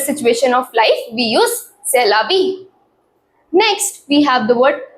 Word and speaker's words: c'est la vie: It is a French word and it is pronounced as c'est la vie.